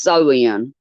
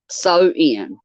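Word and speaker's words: Samhain: 2 000 years ago known as Sam Hayne pronounced so in sew in okie dokie and what is now modern day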